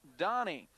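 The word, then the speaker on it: Danis: The left offensive end, Tom Donnie. His name's spelled D-A-N-I-S, but it's pronounced Donnie.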